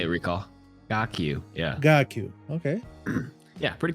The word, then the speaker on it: KarQ: KarQ is actually my Chinese name. It's pronounced KarQ. Yeah, you say it, Recall. KarQ.